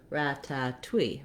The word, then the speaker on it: ratatouille: and that's more like rata twee ratatouille so you can hear how this twee clearly does have the w sound it's also stressed just like the two